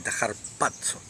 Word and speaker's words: harpazo: h en vez de con z y se pronuncia con una d entre la a y la c j patso que es violento rápido es un es como